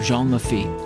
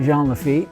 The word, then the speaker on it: Jean Lafitte: You say Jean Lafitte, the town of Jean Lafitte, and I've heard people say Jean Lafitte, which is it? I just think it should be said with a French pronunciation.